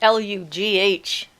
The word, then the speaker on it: Lugh: I think it's Lugh usually is how Lu is spelled, and then the part you spelled correctly.